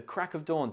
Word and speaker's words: crack of dawn: dawn in natural speech when we say crack of dawn quickly and informly the of sound can often become subtle or even omitted altogether in other words the of is replaced with the schwar sound uh this can make the phrase sound more like crack a dawn instead of crack of dawn examples include I had